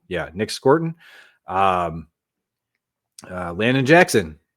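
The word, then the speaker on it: Scourton: Nick Scrort. I always mispronounce his name. Scorton. Yeah, Nick Scorton.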